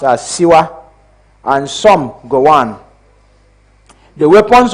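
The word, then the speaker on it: Shuwa: Some were called Gagara, some Ojuku, some Adekunle, some Shua, which we pronounce as Siwa, and some Gowan.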